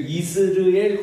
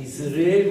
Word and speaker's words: 이스르엘: 정확하게 발음을 해야 되거든요 그리고 이스르엘 골짜기가 아니 이스라엘이 아니고 이스르엘 골짜기 하나님이 씨를 부린다 이런